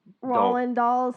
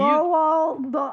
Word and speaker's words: Roald Dahl: Roland Dolls. Not Roland. What? See, you. Roald Dahl.